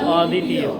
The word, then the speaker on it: অদ্বিতীয়: হবে না, বফলার উচ্চারণ হবে না, যে বফলার উচ্চারণ হবে না। দ্বিতীয়, তাই না? দ্বিতীয়। এবার আমি লিখলাম, সামনে লিখলাম অ। হ্যাঁ? অদ্বিতীয়, হ্যাঁ?